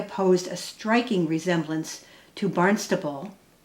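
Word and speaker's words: Barnstaple: The name chosen for the new village was Barnstable, since the area posed a striking resemblance to Barnstable, pronounced with a B but spelled with a P, England.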